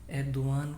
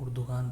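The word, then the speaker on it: Erdoğan: है अर्दन एदवान को हमारे उर्दू वाले लोग उर्दगान पढ़ते हैं जो कि हो सकता है उर्दू में सही हो लेकिन असल में यह वर्ड इस तरीके से नहीं अदा यह अदा होता है अदान सही है यानी जो जो उसका जी है वह साइलेंट है और यमुश है वहां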